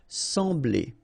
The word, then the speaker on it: Sembler: So EM will give you the sound en, okay? So you don't pronounce the M, you just get the sound en. Sembler, sembler, okay? Combination of B and L, bl, bl, sembler, all right?